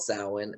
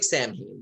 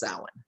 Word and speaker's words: Samhain: and uh it's called samhain and uh it's like of course low budget we had every what is it how do you spell that uh s-a-m-h-a-i-n it looks like samhien but it's pronounced samhain yes so uh we